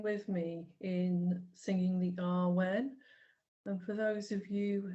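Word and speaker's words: Awen: me in singing the Arwen. And for those of you who perhaps haven't done this before, it's toned rather than sung. And it is in 3 syllables in R, U, N.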